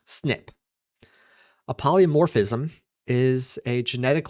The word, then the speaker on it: SNP: Frequently in genetics, you'll hear a term called polymorphism or sometimes a single nucleotide polymorphism called an SNP which is pronounced snip.